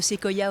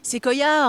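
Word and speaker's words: séquoia: Si on devait faire le bilan de Sequoia aujourd'hui, quel serait-il?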